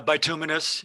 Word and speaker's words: bituminous: answer that you did very well with the pronunciation right it's uh bituminous it's uh that's close yeah it's the it's